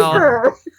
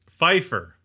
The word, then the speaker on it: Pfeiffer: The P is silent like pterodactyl.